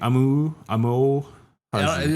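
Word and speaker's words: Amou Haji: Amo Haji. It sounds perfect. You were pronouncing it perfectly.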